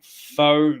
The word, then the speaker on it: faux: Faux metal. I think that's how it's pronounced.